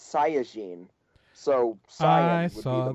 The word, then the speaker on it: Saiyajin: What's the proper pronunciation, Nick? Saiyan. In the Japanese, it's Saiyajin.